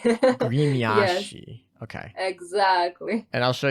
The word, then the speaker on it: Гремящий: Гремящий. Interesting. Гремящий. Yes, Grimyashi. Okay. exactly. And I'll show you them. So this is Grimyashi or whatever. Okay, So гремящий.